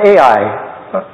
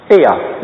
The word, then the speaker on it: Aiah: The two sons of Rizpah, the daughter of Ai. Aiah is how you say that.